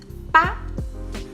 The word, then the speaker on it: 吧: Like all Mandarin particles, these are pronounced in neutral tone, which should be light and quick.